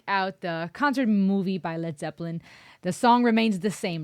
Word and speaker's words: Led Zeppelin: I keep saying Led Zeppelin, Led Zeppelin. The German in me is coming out. But I've been told it's Led Zeppelin, so that's what I'm